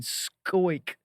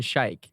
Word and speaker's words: Schaick: But you see the SCH, Yeah. you're not thinking Schaick. No, you're thinking Schaick. I mean, think of school, you know?